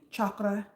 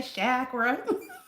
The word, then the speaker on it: chakra: energy centers or um let me say it this way one time to make Jatin happy. Chakra. Jaten says you it it's it's chakra. It's chakra. You you Americans, y'all say shakra.